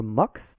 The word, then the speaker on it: Mx: worry identified by gender pronounced like mix or MUX the turtle MUX like